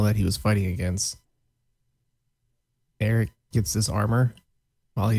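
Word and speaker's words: Aric: his real name is Eric ofia I'm assuming it's Eric because it's a r i c and I don't know any other way you could possibly pronounce that and he is like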